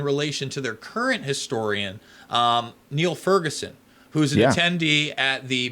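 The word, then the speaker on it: Niall Ferguson: So even though I think he pronounces it, even though it's spelled the same as the guy from the Imperial College COVID thing, but because he's Irish or Scottish, it's Neil Ferguson, and he was teaching at Harvard not too long ago.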